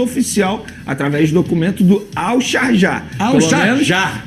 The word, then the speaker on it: Al-Sharjah: Agora, o Leandrinho, de fato, ele recebeu uma proposta oficial através do documento do Al-Sharjah. Al-Sharjah. Foi assim que me pronunciaram, então é assim que eu vou falar aqui no programa. Al-Sharjah.